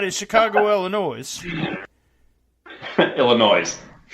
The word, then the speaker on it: Illinois: Illinois. No S at the end. It's silent. The S is silent.